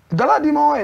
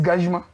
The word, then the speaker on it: Galadima: Galadima is Gajima.